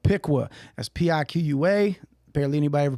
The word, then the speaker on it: Piqua: am from a small town in ohio called piqua that's p-i-q-u-a apparently anybody ever pronounces it right that's what it is after